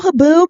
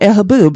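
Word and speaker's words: haboob: Is that how you spell haboo? Thank you. Someone's correcting. Yeah. H A B U B. I should have looked that up before I just incorrectly spelled it. Oh, no. Haboo.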